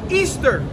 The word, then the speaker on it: Ishtar: to this it says this is ishtar which the picture i showed you which is a false god pronounced easter easter was originally the celebration